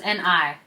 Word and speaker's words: 네: Okay, this word is spelled as N-E, but it's actually pronounced as N-I, ni, which means you.